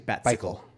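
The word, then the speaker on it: Batcycle: All right, it's actually a bat cycle. You pronounce it like a popsicle. Not bicycle, but yeah, popsicle.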